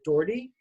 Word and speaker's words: Doherty: butcher your last name I hope I pronounced it right Doherty yep now that uh or was that right yeah like shannen doherty okay perfect uh so